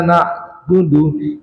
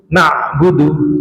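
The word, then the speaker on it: نعبد: Biasa na ketemu ain sukun na'budu. Jadi bukan na'budu na itu salah. Karena huruf nun ini ketarik dengan huruf ain na.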